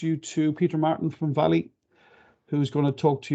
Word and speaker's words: Vale: a bit about meeting valleys it looks like vale but it's actually pronounced valley uh on the next